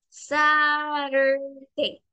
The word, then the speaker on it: Saturday: sonido más fuerte t pero en el inglés tiene un sonido suave y cuando lo mezclamos con una vocal se vuelve como la pronunciación de una r suave Saturday SAT entonces la